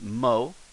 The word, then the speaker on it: も: So this is mow. Mow as in mow the lawn.